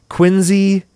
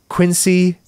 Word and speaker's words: Quincy: Anyway, Bill Rosenberg opened his first donut shop in 1948 in Quincy, Mass., which is pronounced like a Z, Quincy, not Quincy.